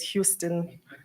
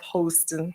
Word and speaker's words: Houston: hoston and I know we always pronounce his the name as Houston but he calls himself hosting so I hope Dr